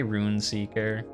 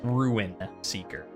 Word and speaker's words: Ruin Seeker: Bottom right, choose wisely, Rune Seeker. Also, by Rune Seeker, I guess it's just the way I say it. It's Ruin Seeker, R-U-I-N, not R-U-N.